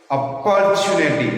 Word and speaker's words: opportunity: English speaking alone is not important, but we have to say where to give a stress in the words. Opportunity, it's not opportunity.